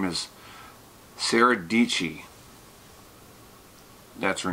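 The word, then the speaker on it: Dietschy: her name is Sarah dici that's her name right there Sarah dici and she says on the beginning of her vlog it says rhymes with peachy easy to remember and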